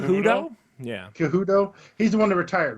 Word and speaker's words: Cejudo: Yeah, Cejudo.